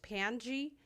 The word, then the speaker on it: Pangy: And my name is pronounced Pangy. It's Pangy.